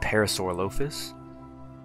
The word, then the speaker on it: Parasaurolophus: today we are building for the beautiful parisius or as some people like to call it parasaur lus I've heard that said a lot one of those names that nobody really knows how to pronounce and everyone just kind of picks their own choosing of what they want to call it but I say Parasaurolophus I think that's the right way if you say the